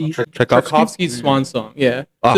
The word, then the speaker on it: Tchaikovsky: So the only score that it was in there was I think how do you say Troski uh Chakovski Chakovski Swan Song.